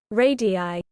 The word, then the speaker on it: radii: I want to know how you pronounce the plural of radius. Radi? Radi? Oh, here we go. Radii.